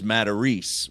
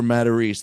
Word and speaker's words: Matarese: I think it's because my last name is Matarese with an E at the end, but I grew up in New Jersey my whole life.